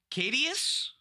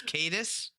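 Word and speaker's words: Caetus: it flips it's now cadius see Tyrant of Segovia cadis I was so proud I was like I haven't mispronounced a word yet but it's cadis sure non-creature spells you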